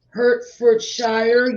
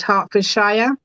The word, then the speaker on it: Hertfordshire: Miss Pam has been a guest lecturer at Hertfordshire University, and she has previously sat on the probation studies examination board.